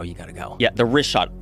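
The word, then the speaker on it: Richat: Egypt it Joe you got to go yeah rot r i c h a t it's worth mentioning that got yeah in the first couple I just want to say it's rot I used to call it Riot I was mispronouncing it but let me ask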